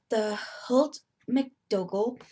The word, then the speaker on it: Holt McDougal: be reading it from my school textbook, the Holt McDougall, that's how you pronounce it, literature, American literature, the Common Core edition.